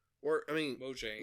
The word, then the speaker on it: Mojang: this, if it's specifically Mahjong. Or, I mean... Mojang, well, you said it wrong, Nick.